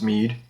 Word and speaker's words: Mead: I think it's pronounced Mead. M-E-A-D.